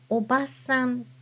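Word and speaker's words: おばさん: hiana a after B now if I say obasan which means Aunt then obasan has no extended a sound so it's simply for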